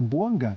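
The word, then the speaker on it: Bouanga: E tá certo a minha pronúncia? É Boanga que fala?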